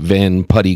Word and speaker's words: Van Putte: stock with delivery and planting always available at Van putty Gardens van putty is spelled it by the way v n p